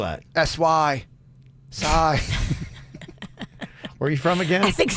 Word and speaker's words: Sy: How do you spell that? S-Y. Sai.